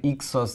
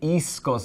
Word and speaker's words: ixos: So what she should say is Zaldrizes buzdari ixos daor. What she says is Zaldrizes buzdari iskos daor. So she switches the S and the K.